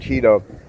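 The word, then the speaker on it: Chido: She uh sends me these, and by Cheeto, not Cheeto like the one you eat or name is spelled Ch I D O.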